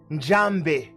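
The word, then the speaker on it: Nzambe: So we in Congo, we say Njambe. Njambe. The N is silent.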